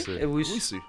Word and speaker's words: Owusu: Owusu.